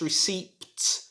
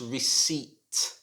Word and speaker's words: receipt: you pronounce this word this word is difficult because it has a silent letter in it the p is silent so it should not be pronounced receipt it should be pronounced receipt receipt like please could